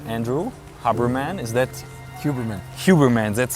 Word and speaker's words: Huberman: Huberman. That's how you would say the German it.